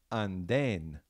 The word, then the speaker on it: andén: So I'm going to just say it a few times and let you pick up on where that accent would be and then spell it. Here we go. The word is andén, andén, andén. Okay, take a minute to spell that. All right, so that an is pretty clear. That's an A and an N. And then you have den, den, D, E with an accent, N.